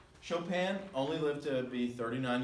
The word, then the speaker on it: Chopin: and now we've got Frederic Chopin looks like Chopin but it's pronounced Chopin Chopin only lived to be 39 years old in